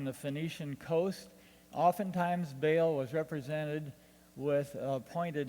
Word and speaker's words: Baal: we usually pronounce it Bale but in the original Semitic languages it was usually something like Baal but it's easier to